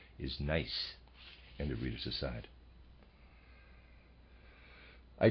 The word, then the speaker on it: gneiss: I apologize, the correct pronunciation is Nice.